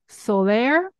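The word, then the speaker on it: Soler: are deeply passionate about the music of Antonio Solair am I pronouncing okay absolutely right so for listeners who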